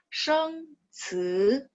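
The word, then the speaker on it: 生词: Jadi sheng ci, sheng nada 1, ci nada 2, seperti itu.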